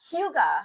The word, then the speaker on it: hygge: Hyoo-guh. Hyoo-guh. How did we say it wrong? We just Hygge? We just listened to that. Hyoo-guh. Hyoo-guh. Okay. Like Hugh Hefner.